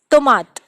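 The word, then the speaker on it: tomate: Okay, let's take another example, tomat. Tomat is your tomato, and we are pronouncing it tomat, and it still have a soft pronunciation.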